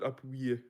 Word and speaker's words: appuyer: Translate the word appuyer. Supported. How to pronounce that?